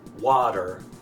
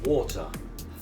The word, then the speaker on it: water: So, why is water water so difficult to pronounce on the other side of the pond? Well, quite simply, it's three rules at once. So, it's the A rule, the R rule, and the T rule all at the same time.